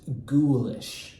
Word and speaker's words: ghoulish: This word here is pronounced ghoulish. I know you might want to say ghoulish, but it's going to be ghoulish.